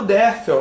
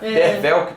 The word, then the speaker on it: Derfel: lá que era o derfel né derfel que fala que se pronuncia como V no primeiro parágrafo ele